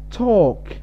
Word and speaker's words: talk: Talk. Talk. Talk L lama akhriyo. L waa silent, waa T-A-K.